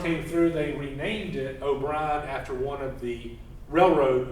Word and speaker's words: O'Brien: It's spelled O'Brien, O-B-R-I-A-N. That's better than its initial spelling of O-B-R-I-N-E. O'Brien, like briny water, O'Brien.